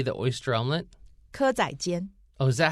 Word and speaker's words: 蚵仔煎: 蚵仔煎。